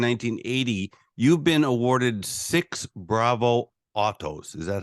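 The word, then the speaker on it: Bravo Otto: between 1973 and 1980 you've been awarded six Bravo Autos is that how to pronounce it yep and then in 2010 she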